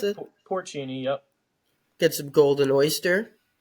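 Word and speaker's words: porcini: salt porini salt is how is how you pronounce it porini yep get some golden oyster there you go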